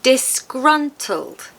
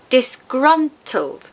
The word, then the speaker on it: disgruntled: The pronunciation is disgruntled. Three syllables, stress, the second syllable. disgruntled.